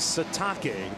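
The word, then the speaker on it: Sitake: Keani Satake. That's right. It is Satake. That is the proper pronunciation.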